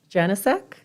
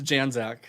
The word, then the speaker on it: Janac: you pronounce it correctly it's janac janac so um you know